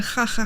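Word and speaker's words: jaja: yeah, it's laughing ha ha ha ha, but it's spelled ja ja ja ja ja ja. Like imagine laughing like that and ja ja ja ja ja ja, but it's actually ha ha.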